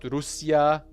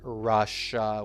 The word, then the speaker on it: Russia: So, not Russia, anything like that. It is Russia with a sh sound where the two s's are.